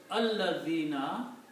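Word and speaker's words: الذين: And then when we put al before that, then this is pronounced as al-ladhina.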